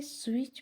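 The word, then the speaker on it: switch: हैं अब यहां पर स्विच में जो टी है वो साइलेंट है स्टूडेंट हम इसको रिवाइज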